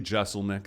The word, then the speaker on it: Jeselnik: just it's it's funny it's technically Jeselnik that's what I use right but I remember like when I graduated college I didn't get there in time to like tell them how to pronounce it so walk across the stage and they like Anthony Jeselnik and I'm like ticked like I'm annoyed that's that sets you off and my grandma's like actually Giselle Macca's correct too and